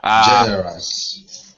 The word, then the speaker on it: generous: Generous. Yeah. Um, this last syllable being a uh unstressed syllable, you want to use the schwa sound. So, generous.